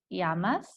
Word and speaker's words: llamas: have como te llamas remember that the double owl is going to have a Y sound in Spanish that pronounced Yama's and that's asking what